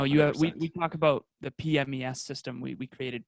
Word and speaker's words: PMES: we talk about the pmes system we we created p-m-e-s i got to pronounce that correctly because other people otherwise people think it's pms or the other thing so physical mental emotional